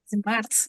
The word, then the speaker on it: Marthe: Marthe is correct. Marthe is a French name. The E is silenced, but we say Marthe.